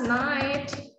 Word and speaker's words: night: So you don't need to pronounce the TH. They are always silent. 8, night, high, delight. Okay. Okay. So that's it. It's easy for you to just pronounce the T directly.